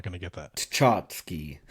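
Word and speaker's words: tchotchke: Chachski. Chachski.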